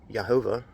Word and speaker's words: YHVH: I argue it's pronounced Yehovah. Otherwise, where did the word Jehovah for Jehovah's Witness, where'd that come from? It's clearly not Jehovah with a J, because the J doesn't exist in Hebrew.